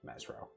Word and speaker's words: Mezro: messen scholar um they were seeking information about Mezro is the right way to say that.